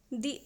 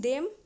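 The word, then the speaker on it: the: तो यहां पे द के बजाय दी का यूज़ किया गया। ये दी प्रोनाउंस करना सही रहेगा। क्योंकि ये अदर जब हम प्रोनाउंस करते हैं तो इसका फर्स्ट लेटर अ जो कि वोवेल साउंड आ रहा है। इसीलिए यहां द के बजाय हम दी प्रोनाउंस करेंगे।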